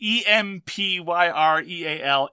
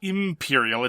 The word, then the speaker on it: Empyreal: Well, that's the thing. It's Empyreal, Empyreal, not Imperial.